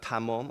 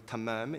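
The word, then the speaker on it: تمام: For example, the word tamam, I'm pronouncing in the Persian way, tamam in Arabic pronunciation, which means complete in the original Perso-Arabic meaning.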